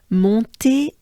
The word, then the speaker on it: Montée: So here we have on, remember? On. It's very nasal. Mon, on. And et, which is not a I, it's a e. Think of café, et.